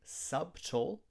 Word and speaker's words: subtle: We don't say subtle. We say subtle. In this word, the B is silent.